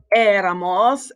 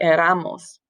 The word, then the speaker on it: éramos: Nosotros éramos, accent on the E. If it didn't have an accent, it would be pronounced éramos. And we want éramos.